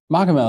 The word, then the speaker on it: Machamehl: Machamehl.